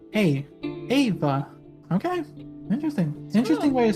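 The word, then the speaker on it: Éabha: spelled um uh e a b h a ava okay interesting interesting way to spell it okay uh okay the second name thank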